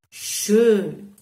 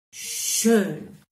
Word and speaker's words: schön: conoscete il colore rosso, e la O umlaut, come la O in francese che già abbiamo fatto, andatevi a riguardare i video, per esempio, quindi si legge schön, schön.